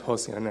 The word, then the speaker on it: Josiah: I pronounce this wrong, Josiah. Bernard, there's a card over there. And when you come on forward, just please identify the item you're speaking on. Thank you. Good morning. It's pronounced Hosian, actually.